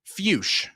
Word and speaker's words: Fuchs: Fuch is how you pronounce that. Troy. So, I do want to say for a little extra context here on given predictions early on, uh, Zach Fus, last time we saw him was also in